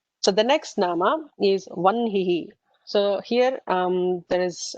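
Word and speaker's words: वह्नि: her and na it is supposed to be pronounced as onehi not what me uh just like brahma right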